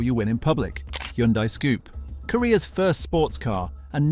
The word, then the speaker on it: Scoupe: The name was literally a combination of sporty and coupe, pronounced Scoupe.